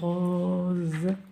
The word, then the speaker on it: rose: Une rose.